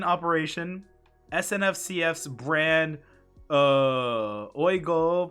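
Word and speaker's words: OUIGO: snf cf's brand uh oigo pronounced we go along with the straightforward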